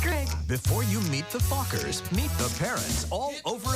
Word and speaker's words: Fockers: see meet the um how do you pronounce it oh just like it's spelled f-o-c-k-e-r Meet the Fockers in theaters December 22nd